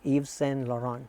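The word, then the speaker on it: Yves Laurent: would say or Eva Eve lauron the te's are silent so I learned it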